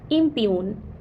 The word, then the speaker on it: impugn: Impune, and not impugn, because G is silent in word impune.